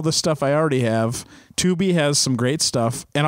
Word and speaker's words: Tubi: It's spelled T-U-B-I. Tubi. T-U-B-I. And it's Tubi.